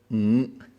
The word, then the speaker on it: Ng: Ng is a nasal sound.